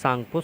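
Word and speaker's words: Tsangpo: देखिए, ये तिब्बत हिमालय और बृहद हिमालय के बीच में पाया जाता है, इंडस सांगपो सचर जोन। ठीक है, इसमें टी साइलेंट होगा, तो इसमें एक हमने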